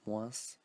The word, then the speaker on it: moins: So it's like moins. Some people say moins, so it depends on the people. You can or not pronounce the S.